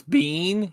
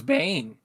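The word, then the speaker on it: Biehn: Uh, KSS says that Michael uh Oh, it's Bean. His name is Bean. I thought it was Bane.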